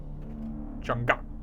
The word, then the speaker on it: Chang'e: Chang'e. I know you write it like this, but you pronounce it more or less Chang'e.